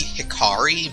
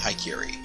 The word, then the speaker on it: Hikari: I know it's supposed to be Hikari, but I pronounce it Haikiri.